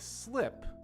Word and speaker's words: slip: So here, slip has the short I sound, which we've talked about a lot in the past because it's such an important pronunciation point. So with slip, it's similar to words like hit and pick. They all have that short I sound. Whereas sleep, as you can hear, has a longer, deeper E sound.